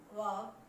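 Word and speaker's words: walk: ठीक बात क्या है कि एफ और के से पहले अगर एल आ जाए तो वो साइलेंट रहेगा, बोला नहीं जाएगा।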